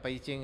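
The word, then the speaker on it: Beijing: ज़बान बोल रहे हैं, ये बीजिंग आप लोग बोलेंगे ना, लेकिन चाइनीज़ में प्रोनाउंसिएशन के हिसाब से पईचिंग कहते हैं इसको, बी को पी की आवाज़ निकालते हैं।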